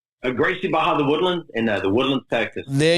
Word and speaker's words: The Woodlands: He is a first-degree black belt training out of Woodland Hills. Did you say it right? Woodland Hills, Texas, which is, did I say that right? Gracie Baja, the Woodlands, in the Woodlands, Texas.